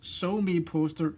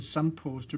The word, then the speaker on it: SoMePoster: It can be actually both So Me Poster and Sum Poster because it's an abbreviation of social media poster.